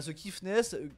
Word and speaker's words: The Kiffness: Voilà, The Kiffness, The comme The tout simplement, et plus loin, Kiffness, Bien vu, l'artiste.